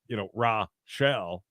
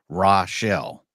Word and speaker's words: Rochelle: So to come in and be like it's Rochelle. That's how I put it on the train, so we'll pronounce it again right. Rochelle.